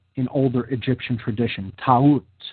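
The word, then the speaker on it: Taurt: Or Ta'ut, she was called in older Egyptian tradition. Ta'ut, T-A-U-R-T, Ta'ut. Now, in other traditions in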